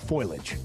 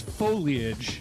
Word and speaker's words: foliage: time for the fall foilage. The fall what? Foilage. Okay. Is it foliage or foliage? It's foliage. Foliage. It's three syllables.